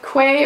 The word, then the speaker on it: Quay: but these are my Quay or key however you want to pronounce it sunglasses so they look